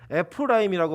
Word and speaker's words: 에브라임: 둘째 아들이 태어나니까 이 차자의 이름을 에브라임이라고 지었는데 이 에브라임은 히브리어로 에프라임이라고 발음하고 그 뜻이 두 배의 열매, 창성함이라고 얘기합니다.